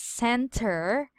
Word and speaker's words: center: Bob okay so this one is spelled as Center but if you are studying American accent or American pronunciation this is read as Center center yes you will remove the T sound then that is read